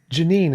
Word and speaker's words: Jeanine: Uh, Janine, is that how you pronounce your name? That's how you pronounce it. Janine, it's nice to have you on.